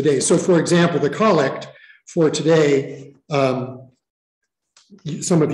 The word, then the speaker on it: collect: the day so it's just pronounced instead of collect it's pronounced collect but it is it is a set prayer that is used to to really the themes of the day so for example the collect for today um some of you have heard